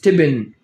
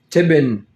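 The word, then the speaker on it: تبن: feed like uh animals the pronunciation is tibin tibin dried grass exactly yes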